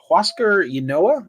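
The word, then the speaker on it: Huascar Ynoa: phillies goes up against huasco inoa i believe is how you say his name i believe that's how you say it yes um yeah uh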